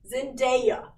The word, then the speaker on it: Zendaya: euphoria with zendaya or zendaya how do you pronounce it yeah zendaya okay what they did the whole show in